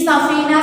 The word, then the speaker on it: സഫീന: പിന്നീട് സഫീന പാട്ടായിട്ട് മാറി ഈ സഫീന സഫീന എന്നുള്ള ഉച്ചാരണം നിങ്ങളൊന്ന് ശ്രദ്ധിച്ചു നോക്കൂ മലയാള അക്ഷരമാലയിൽ ഇല്ലാത്ത ഒരു ഉച്ചാരണമാണ് ഫ എന്നുള്ളത് അല്ലേ പ ഭ ഭ മ